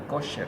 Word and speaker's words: Kocher: Se escribe Kocher, pero se pronuncia Kocher, ¿no? O algunos pronuncian hasta Kosher también.